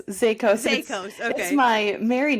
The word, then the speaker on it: Zaicos: So, we have a lot to talk about today, but I want to welcome Zyikos. Am I pronouncing that correctly? Zakos. Zakos.